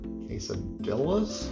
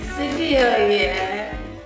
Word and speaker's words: quesadilla: So, we got uh the hungry Hussies Chipotle chicken quesadilla and Blackstone Betty's quesadillas inspired quesadillia. Quesadilia. We call it a quesadilla. That's how it's pronounced.